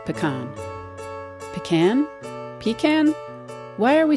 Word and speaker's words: pacane: algonkian language family and all had a word something like pakan it referred to hard shelled nuts in general there were various pronunciations but the French explorers settled on pan and this is where